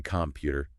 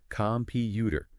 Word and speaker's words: computer: You might hear some learners say computer, stressing the first part. But native speakers, they usually go computer, stress on the second syllable.